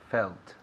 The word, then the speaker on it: felt: Felt. Perfect, buena pronunciación y todo. Felt. Felt. Remember aquí la T al final es muy importante. Las terminaciones. No hablamos aquí, inglés andaluz.